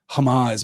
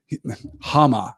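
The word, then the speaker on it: Háma: of Phaeton he said Hamas my name Hama I suppose stress in the second syllable there Hama is my name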